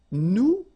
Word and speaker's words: nous: if you remember correctly, so final S is not pronounced here. Okay, and then this O-N, so it's a nasal and it goes in your nose and it goes like on. Alright, so you don't hear any N, so it's really on.